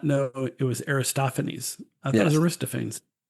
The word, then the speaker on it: Aristophanes: Aristophanes. Yeah. So if you read it, it looks like Aristophans. Why wouldn't it be? Because it's Greek and in Greek you pronounce all the letters.